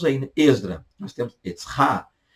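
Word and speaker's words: עזרא: Nós temos Etzra. Esdras, português, Esdras, hebraico, Etzra. Etzra.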